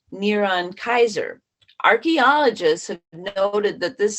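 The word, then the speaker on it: נרון קסר: Well, the first century Hebrew spelling of the name Nero using English letters is NRWNQSR, pronounced Neron Kaiser.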